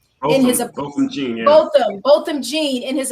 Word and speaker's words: Botham Jean: How do you pronounce it again? Botham Jean. Botham Jean, yeah.